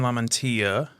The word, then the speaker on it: LaMantia: we've got lauren lamentia oh you said it right yeah so i think i said it right the first time i said it wrong when we first met yeah because i'm from the south yeah these are good